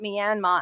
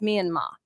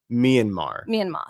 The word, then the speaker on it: Myanmar: And for the earrings, who does not buy his amber from Myanmar, who also corrected me because I was calling it Myanmar and it's apparently pronounced Myanmar. Myanmar.